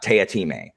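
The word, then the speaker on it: Teatime: crazy assassin named uh tayatime it's spelled tea time but it's not pronounced that way and he's insane he's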